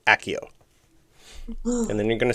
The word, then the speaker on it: Accio: Accio. Pronunciation is good.